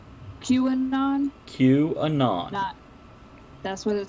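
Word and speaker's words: QAnon: Kuban on what did the letter Q and then anon like the first part of anonymous cubed on Q anon queuing on Q anon that's what it says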